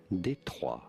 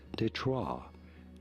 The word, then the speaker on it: Détroit: It is said as Détroit, Détroit. Or in English you could say it as Detroit, Detroit, not really Detroit.